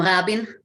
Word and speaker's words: Rabin: And, you know, the guest of honor was the Prime Minister Yitzhak Rabin, or "Yitzhak Rabin" (American pronunciation) in America. We called him Rabin.